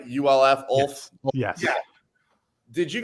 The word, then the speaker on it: Ulf: But you pronounce his name Ulf, right? ULF, Ulf.